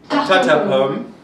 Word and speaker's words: tarte aux pommes: So today we're actually going to make a apple tart, or actually in French, wait, I'm going to pronounce it, tarte aux pommes.